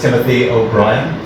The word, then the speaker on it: Timothy O'Brien: And here with me is Professor Timothy O'Brien from Loyola University in Chicago. Is that pronounced right?